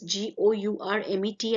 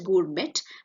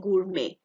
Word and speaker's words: gourmet: So we will not be pronouncing this G-O-U-R-M-E-T as gourmet, but gourmet. The last T is silent, gourmet.